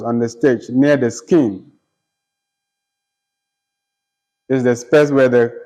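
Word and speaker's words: skene: with the actors on the stage near the skin is the space where the chorus sings and dance and dances with the actors on the stage near the skin the skin is spelled s-k-e-n-e all right the space where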